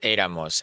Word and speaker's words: éramos: The only difference is that éramos has the accent, right, on the E, éramos, because it has three syllables, and the stress still remains on the first syllable, era, éramos.